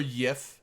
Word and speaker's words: GIF: JIFF, like the peanut butter, CCP but people shame. that know would know. God. Yeah, like I like there's some good ones. Or YIF, CCP.